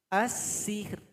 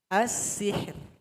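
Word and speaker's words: السحر: Jadi cara bacanya tipis. As-sihr. As-sihr. As-sihr. As-sihr. Nah, jadi bermain di belakang gigi kita. Jangan dibantu dengan bibir.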